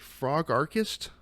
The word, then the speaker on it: Frogarchist: Is it frog archist? You got it.